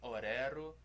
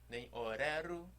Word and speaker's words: Oreru: das palavras são oxítonas então a sílaba forte é sempre a última não é oreru oreru e nem perdão não é o livro nem horário é o Lilo aí amando Tupã sempre a última sílaba que é mais forte agora vamos tentar cantar